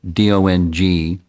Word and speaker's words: Dong: called it's a little difficult for me to pronounce it properly d-o-n-g dong I was told that's how you're supposed